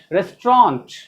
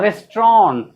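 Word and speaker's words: restaurant: टी भी पढ़ सकते हैं, टी साइलेंट भी कर सकते हैं, टी पढ़ भी सकते हैं, रेस्टोरेंट और रेस्टोरेंट, लेकिन पढ़ेंगे ऐसा ही, इसको छोड़ना कोई दिक्कत वाली बात नहीं।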